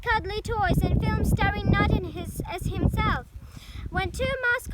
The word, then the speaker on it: Knut: An orphaned polar bear named Knut, pronounced Knut, born at Berlin Zoo in 2006, inspired a craze dubbed Knutmania, billed as the world's most famous polar bear.